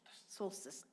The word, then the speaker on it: solstice: it's hard to say it is solstice it rhymes with poultice poultice solstice okay so he's gotten